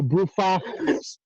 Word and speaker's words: Brufach: having me and the broofax i think it's awesome that you didn't correct his pronunciation of your name did i say it wrong that's exactly right yeah that would be